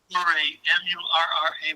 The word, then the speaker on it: Murray: Murray.